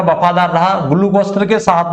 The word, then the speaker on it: Caius: Just minute, ये spelling नहीं थी शायद, CAIUS। चलिए, CAIUS कैस, ठीक है ना, ये नाम था इसका पीजेंट का।